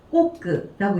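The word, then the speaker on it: 刻: 요게 들어가 있는데 자, 이 한자 음독 지금 어떻게 읽어주고 있냐면 꼬끄라고 읽어주고 있고요.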